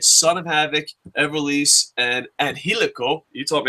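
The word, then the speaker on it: Angélico: The Trio Championship Tournament, you had Son of Havoc, Everlise, and Angelico. You taught me how to say that. Did I say it right? Spanish teacher? Angelico.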